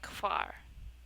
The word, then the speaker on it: Hvar: HV, when a word starts with HV, it's more of a QU sound for for me. Because like HVAR is like quar.